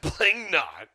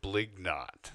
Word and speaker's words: Blignot: Blingnot. No. Ockert Cornelius Blignot. Blignot. Oh, I thought it was Blingnot. I thought it was Blingnot too, but I mispronounced it.